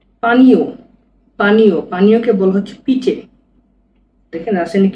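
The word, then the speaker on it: piće: পানীয়, পানীয়কে বলা হচ্ছে পিচে, দেখেন রাসায়নিক কি লিখছে, পিচে, মানে পিচে মানে পানীয়, এটা হলো পি, এটা আই, এটা সি এইচ চে, এটা হবে ই চে, পিচে, সি এইচ চে, পিচে, পিচে মানে হচ্ছে পানীয়।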